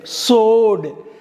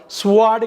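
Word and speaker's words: sword: டபிள்யூ வந்து silent. சோடு, டபிள்யூ இல்லைன்னே நினச்சிட்டு படிக்கணுங்க. சோடு, சோடுன்னா வால், போர் வால். ஸ்வாடு கிடையாது, சோடு, எஸ்ஓஆர்டி, சோடு, வால்.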